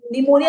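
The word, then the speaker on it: pneumonia: पी for furrow next P फॉर निमोनिया निमोनिया में P silent है देखो right right L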